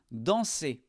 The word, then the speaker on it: danse: Ici, on ne prononce pas non plus ces lettres. Elle danse.